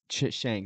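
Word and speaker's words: Cenk: Chehnk. Do you know Yeah, him? yeah. Turk, That the Young Turks, yeah, and Shank. Shank. That's what it is.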